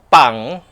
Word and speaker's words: 방: Kapag ni-romanize kasi nagiging letter B yan. Pag romanization, pero pag pinopronounce na po is letter P talaga, pang, norebang, pisibang.